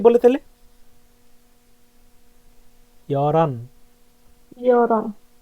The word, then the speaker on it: 열한: এখানে উচ্চারণের কিন্তু পার্থক্য আছে। এখানে আবার সেম সংক্ষিপ্ত রূপগুলো বসবে, ঠিক আছে? হান, দু, এভাবে। 11কে কি বলে তাহলে? ইয়রান 열한, বা 열한, ইয়রানা, ইয়রানা, ইয়রান, ইয়লদুল, ইয়লদু।